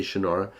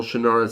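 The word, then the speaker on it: Shannara: future of Earth and that is the shinara series or shra if you prefer to to say it like he does I say shanara uh the shanara series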